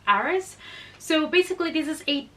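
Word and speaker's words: Ares: that is eros or I don't know if you guys Brown said Aries but I think in the Netherlands where this comes from it's pronounced eros so basically this is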